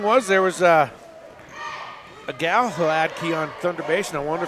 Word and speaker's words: Hladky: It's not a strong H. Oh. It's a soft, smooth Hladky.